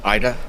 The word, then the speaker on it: Ida: By the way, Ada has you have really hurt her. Well, you can't even pronounce her name right, so whatever. Ida. Sorry, Ida.